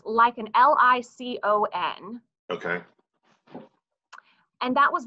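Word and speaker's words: Licon: I'm sure that's an incorrect pronunciation, but it's Lycon, L-I-C-O-N.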